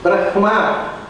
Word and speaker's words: ಬ್ರಹ್ಮ: ಅದನ್ನು ಹಾಗೆ ಬ್ರಹ್ಮ ಅನ್ನೋದು ಅದರ ಸರಿಯಾದ ಉಚ್ಚಾರ. ಆದರೆ ಅದನ್ನು ಸಾಮವೇದದಲ್ಲಿ ಹಾಡುವುದಕ್ಕೋಸ್ಕರ ಅದನ್ನು ಮುಂದೆ ಹಿಂದೆ ಮಾಡಿ ಹೇಳಿ. ಯಾಕಂದರೆ ಬ್ರಹ್ಮ ಅಂದರೆ ಕಟ್ಟಾಗೋದು, ಬ್ಲೆಂಡ್ ಆಗೋದಿಲ್ಲ ಸೌಂಡ್.